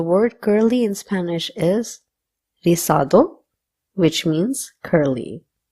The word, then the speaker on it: rizado: Now, the word curly in Spanish is rizado, which means curly. Again, the Z will be pronounced as th or so. So you can either say rizado or rizado.